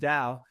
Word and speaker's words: Tao: The trouble with talking Tao, the term Tao, Tao, and it's pronounced Tao, it actually means way.